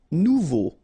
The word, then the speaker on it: nouveau: Nouveau. Remember, combination of E, A, and U together, it's O. So you get nouveau.